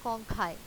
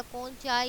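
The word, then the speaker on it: conchae: Vomer और inferior nasal कॉन्काई। Inferior nasal कॉन्काई। अभी जो लास्ट में मैंने बोला कॉन्काई, तो बच्चे इसकी प्रोनाउंसिएशन पे आपने खास फोकस करना है। कॉन्चियल या कॉन्चाई इस तरह से नहीं बोलना, अदरवाइज इट विल गिव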